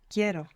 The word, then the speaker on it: quiero: But I want is Quiero. quiero. So we stress down on that E and it splits into IE.